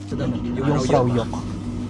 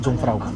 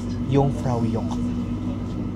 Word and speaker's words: Jungfraujoch: Yung Frau Yok. Yung pala ang pronunciation, hindi pala Jungfrau. Jok. Yung Frau Yok.